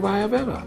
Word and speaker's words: Ayurveda: But you got an upgraded Ayurveda.